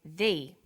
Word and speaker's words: the: banana and the bananas there is a difference in pronunciation though when the comes before a vowel sound we say thee the apples so the before vowel sounds and the before consonant sounds let's look at the